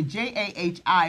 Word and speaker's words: Jahi: So I'm 14, and my name is pronounced Jahi.